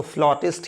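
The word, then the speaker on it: flautist: player बांसुरी बजाने वाला याद रखिएगा यह वर्ड फ्लॉटिस्ट इसको फ्लॉटिस्ट ही प्रोनाउंस करते हैं कुछ और नहीं तो यह रूल माय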